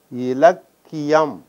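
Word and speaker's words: இலக்கியம்: Ilakiyam. Mark the pronunciation. Ka is doubled here, so it retains its original sound.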